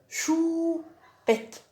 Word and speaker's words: choupette: دونك choupette او ou, dou, pou, mou. Ça y est?